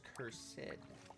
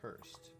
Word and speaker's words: cursed: No, it's cursed, not cursed. The extra syllable makes the stuff seem fancier. You can add at least 2 zeros on the end of the price tag.